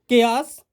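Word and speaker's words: chaos: ए ओ का उच्चारण ए ओ का आ औ का ध्वनि में। तो केयास अव्यवस्था।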